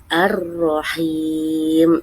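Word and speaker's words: الرحيم: dan mim arahim artinya maha penyayang diingat-ingat diperhatikan bacanya arahim artinya maha penyayang di sebelah itu ada gambar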